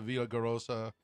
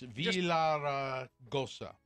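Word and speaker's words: Villaraigosa: That was after Gary Pierce, a commissioner of the 5-member Arizona Corporation Commission, wrote a letter to Villagarosa. I can't say his name. It's Villaragosa.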